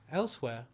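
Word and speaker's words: Elsweyr: Elsewhere. Oh, I thought you were joking. What was that? It's No. it's spelled funny. It's Yeah, so ELSWYR. Like that's not how you spell elsewhere.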